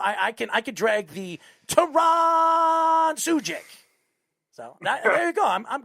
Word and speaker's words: Sugick: Well, you pronounce my name Sugick. So yeah, SU. So basically like SUE dash GICK. So Sugick. That's how you pronounce it.